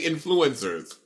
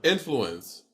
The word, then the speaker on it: influence: Influence. Say it again. Influence. I say influence. No, it's not influence. The accent is. You're saying it wrong, bitch. The accent is not on flu.